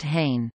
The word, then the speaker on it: Hahne: Hahne and Company, pronounced Hahne, commonly known as Hanes, was a department store chain based in Newark, New Jersey.